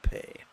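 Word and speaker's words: phaṭ: we forcefully recite the syllable pay. The T is silent.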